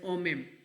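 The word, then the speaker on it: homem: ठीक है, मैन को ओमेम कहते हैं, एच जो है साइलेंट होता है, इट प्रोनाउंस एज ओमेम।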